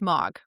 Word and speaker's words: M3AAWG: Anti-Abuse Working Group and the acronym is M3AAWG and it's pronounced mog, which isn't so bad. So, getting from one to the other is important. Anyway, so mog is a place they